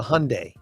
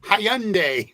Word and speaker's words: Hyundai: pretty sure it's a Hyundai oh it is or is my sister calls it Hyandai Hy Lori it's the why is silent it's Hyundai Hyundai Hyundai whatever but it's not Hyandai Hyandai that's a that's